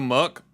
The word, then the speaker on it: Muk: it's ditto no no Muk uh there's a reason why Muk rhymes with suck these guys are pooped